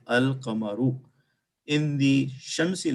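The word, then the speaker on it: القمر: The letter Lam is pronounced, so the pronunciation is Al-Qamaru.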